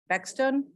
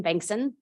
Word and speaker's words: Bankson: My next card is from Bexton. Did I say it right? Oh, well, you'll correct me. No one does, I promise you. So my name's Bankson.